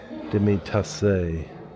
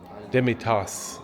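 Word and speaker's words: demitasse: Demi Tasse.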